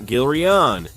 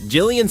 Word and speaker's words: Gillian: I also used to call this character Gerian, not Gilion. Even when I searched on the internet, Jillian seems to be used almost officially, and the character's original name is Jillian.